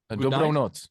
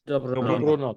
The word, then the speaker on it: Dobrou noc: Dobrou noc. Dobrou Dobrou noc. noc. Dobro not.